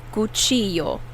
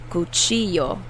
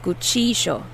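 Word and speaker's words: cuchillo: mexico they will say kuchiyo so the double l is pronounced like a ya but where i come from argentina we say guccijo the double l makes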